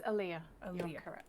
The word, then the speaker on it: Aaliyah: oh am i pronouncing that right is it alia or leia it's aaliyah okay winnie what do you